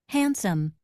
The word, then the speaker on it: handsome: Next one we have D is silent in the word handsome. However, D is not silent in this word didn't and window.